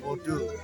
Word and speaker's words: Bordeaux: Bordeaux, not Bordeaux. Yeah. No. You don't say the X. Bordeaux.